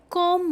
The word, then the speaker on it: comb: I comb my hair. I comb my hair. See com is written as c o m b, but that b we do not pronounce.